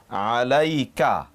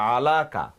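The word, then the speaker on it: عليك: যেমন ধরুন আলাইকা, আলাইকা, এখন কিন্তু আপনি ইয়াটা উচ্চারণ করছেন আলাই, নট আলাকা, আলাইকা।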